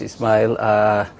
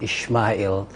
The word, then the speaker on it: Ismail: Thank you very much, Ismail. You corrected me this morning. I was saying Ishmael. I think the Muslims, that's how we pronounce it.